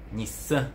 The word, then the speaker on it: Nissan: temos a Nissan Hum como é que se pronuncia em japonês Nissan Hum seria Nissan um Nissan Nissan Ah então